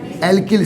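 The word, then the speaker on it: alkyl: अब एक बार और, तो क्या मिलेगा बेटा आपको, आर स्पीसीज, क्या बेटा, आर for radical, called एल्किल, क्या बोलेंगे बेटा इन्हें, एल्किल, सही प्रोनाउंसिएशन होना चाहिए, एल्किल, ओके।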